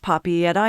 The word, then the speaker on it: Papeete: An excellent general rule of thumb is to enunciate each letter when sounding out a Tahitian word. For instance, the name Papeete is pronounced Papi at I in Tahiti.